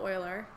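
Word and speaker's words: Euler: negative one over and over it was actually Oiler spelled e u l e r um pronounced oil Oiler um he's a famous mathematician he's responsible for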